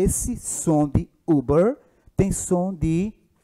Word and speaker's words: Uber: e esse som de Uber tem som de u aquele um longo então Uber Uber Uber é Uber e não é ilber ilber tão Uber SOS ele tem som de u mais longo então se ele tem